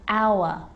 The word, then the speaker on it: hour: when and whistle and sometimes it's not pronounced at the start of a word like honest and hour hour and sometimes the